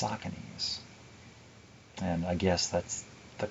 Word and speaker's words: Saucony: not sarcomes or sauciness that's how they're actually pronounced but i learned it as saccones and i only learned later that it's saucony's and i guess that's the correct way to